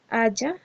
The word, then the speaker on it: haya: Aiga no existe, eso no existe y se ve además horrible escrito. Lo que existe es haya, pero digamos que por cuestiones de pronunciación y todo eso se hizo muy famoso este tal aiga.